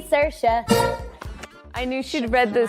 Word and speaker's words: Saoirse: It's Saoirse with an R, not Sourcey with an R, cause Sourcey with an R goes or not R. It's sh instead of s, instead of E, simple as can be, see Saoirse.